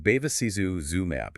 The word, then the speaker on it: bevacizumab: Pronounced bevacizumab, it's a monoclonal antibody targeting VEGF, vascular endothelial growth factor.